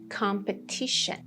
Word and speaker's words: competition: However, the noun of this competing would be competition, competition. The stress is on tion.